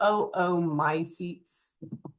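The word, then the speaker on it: oomycetes: You'd say both O's. You could say my seats, but remember we want to pronounce every vowel. So, oo my seats.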